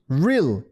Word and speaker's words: real: 이 리을 할 때 혀의 앞부분이 입천장을 때리지 않고 알 발음이 어떤 느낌인지를 감을 잡을 수가 있어요. 지금 리을, 으이 적으신 분들 계신데 리을, 우이. 리을, 우이. real.